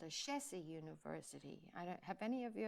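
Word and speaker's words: Ashesi: There's one of the most amazing universities that is called a Shesi University.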